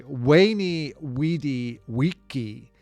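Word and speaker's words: veni, vidi, vici: Veni vidi vichi or wayeni wedi wichi or sorry wayi wedi wiki is the real Latin way to pronounce it I came I saw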